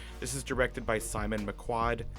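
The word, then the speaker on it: McQuoid: This is directed by Simon McQuad. Quad, one syllable. McQuad.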